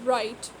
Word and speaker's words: write: the first word is right so the when we pronounce this we say it as right so we do not pronounce the letter w we do not say